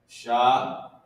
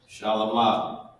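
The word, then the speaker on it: שלמה: Oh, damn, I'm supposed to put how you pronounce it. Shalomah. All right? And means Solomon. Boom, boom, boom. How we do this in the Assyrian. Shalomah.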